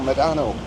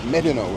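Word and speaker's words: Médano: It's like people pronounce El Medano, but it's Medano.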